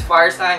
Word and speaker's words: Firestein: See, that's the first time that I pronounced his name right. So it's Firestein, and he's from Berkeley, California.